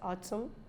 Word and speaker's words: autumn: we must know them so n says is not pronounced when it comes after M at the end so once n comes after n it is not pronounced Autumn hymn column Salem damn